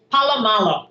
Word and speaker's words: Paulo Malo: How do you pronounce that? Paulo Malo? Paulo Malo, yes.